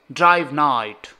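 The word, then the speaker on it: Drive Knight: Class S rank 9 ड्राइव कनाइट, भाई के is silent, I know bro, ड्राइव नाइट।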